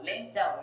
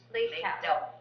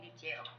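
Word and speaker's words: Leitão: Oh, Leitao in Portuguese. Leitao. Okay, thank you. But people over here call me Leitao.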